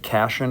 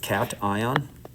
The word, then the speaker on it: cation: positively charged cat ion we don't pronounce it casan or C we pronounce it cat ion so sodium is the